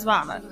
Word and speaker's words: Fauna: I know last episode I think I mispronounced her name too, but it's definitely Fauna, y'all. It's Fauna.